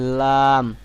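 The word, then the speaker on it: لام: জদ জদ এরকম ভাবে আট নম্বর আছে জিহ্বার আগার কিনারা অর্থাৎ আপনার জিহ্বার যে সামনের একদম সামনেই যে আগাটি আছে এই আগাটাকে উপরের দাঁতের মাড়ির সঙ্গে লাগাবেন লাগায় উচ্চারণ করবেন লাম লাম সামনের উপরের দাঁতের মাড়ির উপরের দাঁতের মাড়ির সঙ্গে লাগায়ে উচ্চারণ করবেন লাম লাম লাম এরপরে নয় নম্বরে আছে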